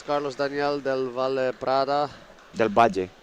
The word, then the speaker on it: del Val: Delbaj. Delbaj. Say again. Delbaj. This is Spanish so I can I can pronounce it like correct.